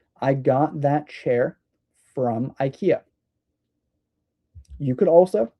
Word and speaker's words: IKEA: However, IKEA is a furniture store from Sweden, and I'm pretty sure that it's pronounced IKEA, but in the United States, we say IKEA.